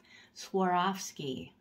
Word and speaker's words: Swarovski: have some Swarovski Crystals Swarovski that's how you're supposed to pronounce it sorry I'm a little